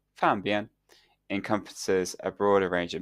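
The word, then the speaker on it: 方便: This misinterpretation stems from the fact that the Mandarin word for convenient, pronounced "fanbian," encompasses a broader range of meanings, including both convenience and simplicity, and something that is nearby.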